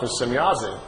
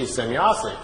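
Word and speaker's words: Semjase: Well, Billy was trying to make his notes and was trying to make write it down phonetically how the name sounded to him. So he wrote it out, S-E-M-Y-A-S-E, Semyazi.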